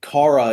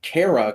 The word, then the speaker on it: Kara: it's the same thing as supergirl i understand kara is the correct pronunciation i grew up saying kara cause the cartoon i watched did i'm not